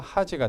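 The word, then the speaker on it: 恥: 자로는 하지 라고 있습니다 하지가 되면 뭐 수치 허관 창피 정도의 의미가 되겠죠 한걸 자로는 하지 라고 발음합니다 함께 기억을 해 주시기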